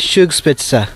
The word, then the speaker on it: Zugspitze: Okay, so you say it as Zugspitze. Spitze, yeah. Zugspitze. Like, you don't pronounce the Z like Z. You pronounce it like S.